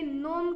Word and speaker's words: gnome: और GNOME, इसमें भी जी साइलेंट होता है, इसे नोम कहते हैं।